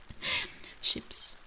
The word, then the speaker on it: chips: Ships. Yeah, ships. It's spelled the same as chips, but it's pronounced different.